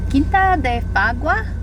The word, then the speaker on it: Quinta de Fagua: Quinta de Fagua. Yep, that's how you pronounce it.